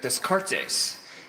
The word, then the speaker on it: Descartes: count D how to really say his name Descartes he's a famous French philosopher scientist and mathematician